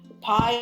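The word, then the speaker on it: Pai: god called pie um pie is spelt p-a-i it is a forest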